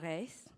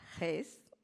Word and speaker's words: Reis: And this panel will be moderated by Marianna Reis. I've mispronounced that, Reis.